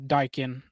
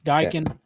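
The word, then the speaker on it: Daikin: uh president CEO of dykin was saying Dyan oh so there you go because there was some confusion I think I'm trying to put the comment up there got you it's pronounced daon uh Joshua my man it's a dykin it's Dyan Park perfect but instead of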